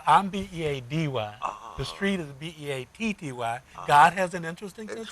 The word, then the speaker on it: Beatty: b-e-a-d-y the street is b-e-a-t-t-y God has an interesting thing you know that so it spelled differently but it's pronounced the same wow so uh again